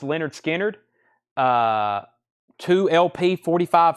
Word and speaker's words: Lynyrd Skynyrd: on that I've still got a Lynyrd Skynyrd pronounced Leonard Skynyrd uh uh two LP 45 RPM analog Productions